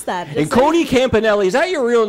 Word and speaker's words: Campanale: Yeah, I was like, how do you pronounce that? And Cody Campanale, is that your real name, Cody?